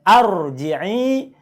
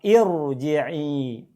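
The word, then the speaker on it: ارجعي: Berarti contoh pada ayat 28 ini bacanya bukan arji'i, bukan juga urji'i, tapi bacalah irji'i. Kenapa nggak dibaca ar? Karena kalau A harus ada lam, di sini nggak ada lam.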